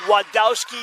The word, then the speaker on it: Wadowski: it is German however the name is Polish so they use it as a w not a v sound but it is wadowski she said just skipped